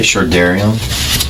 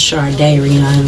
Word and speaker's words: Shardayreon: am I saying you're not when I say sharion um it's pronounced it's close enough uh sharion it's pronounced shardan though what do you go by barion matter